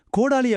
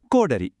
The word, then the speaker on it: கோடரி: கோடாலி அப்படின்னு சொல்றது சரியா இல்ல கோடரின்னு சொல்றது சரியா? சரியான பதில் கோடரி.